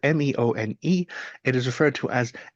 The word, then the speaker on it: meone: And the first is a meon. And a meon, it's spelled Meone.